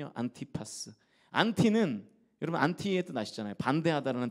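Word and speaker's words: Antipas: 사람이 바로이 안디바 그런데이 안디바의 헬라 발음이 안티파스 안티파스 안티는 여러분 안티에 나잖아요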